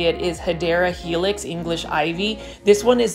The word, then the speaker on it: Hedera helix: But guys, here is the return of Hedera Helix. As you guys can see, this Hedera Helix, or the correct way to say it is Hedera Helix English Ivy.